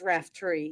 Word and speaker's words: Raftery: I've been pronouncing your name all this time wrong. Raftery? It's Raftery, yes.